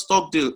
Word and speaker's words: Stockdale: Stockdale paradox is pronounced Stockdale, S-T-O-C-K-D-A-L-E.